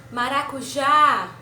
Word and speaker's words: maracujá: Outra palavra. Maracujá. A gente prolongou na última sílaba, que é já.